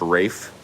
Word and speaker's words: Ralph: and Ed Norton yeah did you know that Ralph is supposed to be pronounced Rafe his name is not Ralph fines it's R fines that interesting why not